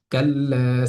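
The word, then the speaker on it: كلا: কাল্লা, লামের মধ্যে একালিফ পরিমাণ টেনে পড়ছি। এটার কারণ জবরের বাম পাশে খালি আলিফ এসেছে, যার কারণে একালিফ পরিমাণ টান হচ্ছে।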